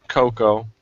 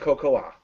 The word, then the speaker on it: Cocoa: Her name is Coco. God, so bad. Cocoa. It's pronounced Cocoa.